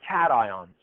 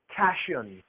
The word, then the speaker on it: cation: to the cathode and so he called them cat ions so they have nothing to do with cats sometimes students will call that cashion because Tio n looks like shun but we